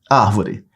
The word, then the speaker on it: árvore: é a sílaba tônica Digamos que um colega seu tem o apelido de árvore árvore Ele é grandão e fica parado árvore ol é o só Adorei vou botar um apelido não sei quem de árvore aí o problema de vocês lá separa sílabas ó árvore aí tá do outro lado da rua você vai chamar árvore Olha onde se prolonga Essa é a sílaba tônica Ok quando aparece o